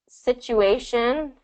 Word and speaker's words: situation: So you have the T between the two vowels here, but the first syllable is the stress. Situ. But the Yes. T kind of also goes into that situ. So there's a little bit of a CH sound.